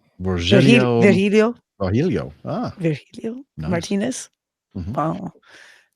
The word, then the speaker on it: Virgilio: Chef, how do you pronounce his name? Virgilio.